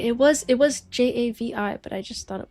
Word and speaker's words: Javi: Javi is pronounced as Javi in the J A in Spanish. Oh, H.